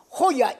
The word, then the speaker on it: Jolla: Mesela şu Jolla yazılan, İspanyolca'da J'ler H diye okunur. Hoya, iki tane L de Hoya.